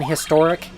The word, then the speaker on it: historic: archaic thing like it you don't say a historic the old way is supposed to be like an historic because you're not you're not actually supposed to pronounce the H for whatever reason it